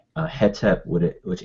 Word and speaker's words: Hetep: Um and some people say hotep with a o instead of hetep with a which h e t e p.